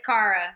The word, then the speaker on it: Cara: Oh, side note, it's Cara. No it's shade Cara. at all. You No done said problem. her name wrong, Nero.